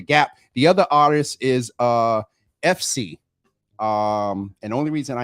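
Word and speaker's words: Eph See: The other artist is FC. And the only reason I know how to say it is because it sounds like Ephesians.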